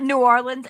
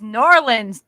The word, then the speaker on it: New Orleans: Orleans yeah I know it's not New Orleans it's nor Orleans dude norleans no I Liv I lived in nor Orleans my sister was born there it's it's like one word nins like n a w l i n z